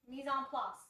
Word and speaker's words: mise en place: How do you say it? Mise en place.